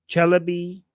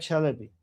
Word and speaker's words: Chalabi: Oh, Chelaby who betrayed the US is a reason many Americans are gunshy. Wait, did you mispronounce that? Oh, Ahmed Chalabi.